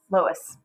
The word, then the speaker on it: Loess: Nope, not Laos, Loess.